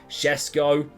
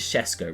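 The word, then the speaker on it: Šeško: Shesko is Shesko, right?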